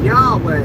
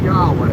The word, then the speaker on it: Yahweh: He'll say y'all. He'll say yaw when you breathe in and way when you breathe out.